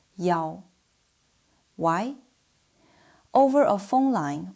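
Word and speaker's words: 一: When reading phone numbers, room numbers, license plates, or ID numbers, the number one is almost always pronounced as yao. Why? Over a phone line or in a noisy environment, yi sounds very similar to qi, seven.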